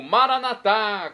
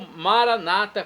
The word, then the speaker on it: Maranatá: Agora do aramaico eu clamo, Maranatá, como dizemos nós católicos, ou Maranata, como dizem nossos irmãos separados, os evangélicos ou protestantes. Não importa a pronúncia, o significado é o mesmo.